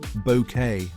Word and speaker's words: Bucket: Keeping Up Appearances premiered in 1990, and Patricia Routledge played Hyacinth Bucket, pronounced bouquet.